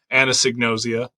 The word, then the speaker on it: anosognosia: allowing me to talk to you today about Anna signosia which I have pronounced now at least 10 times correctly so